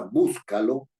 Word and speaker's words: búscalo: en la antepenúltima sílaba si yo digo la palabra Búscalo cierto búscalo yo digo no digo Búscalo ni Búscalo sino búscalo y al decir Búscalo estoy poniendo el énfasis el estrés el acento esto significa acento estoy